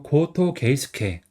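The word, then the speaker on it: 後藤啓介: 그다음에 열개 같은 경우는 이거는 음덕으로 K라고 이렇게 읽으시면 되는 거예요. 그래서 고토 게이스케.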